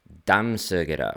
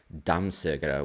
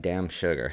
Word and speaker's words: dammsugare: And so I thought it said, like, it looked like damn sugar.